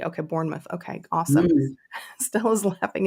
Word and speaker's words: Bournemouth: wrong the time before is it burnmouth or Bournemouth Bournemouth Bournemouth thank you like born identity okay Bournemouth okay awesome Stella is